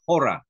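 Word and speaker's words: ὥρα: Ah, mayroon siyang H sound, rough breathing. So, hora. Hora.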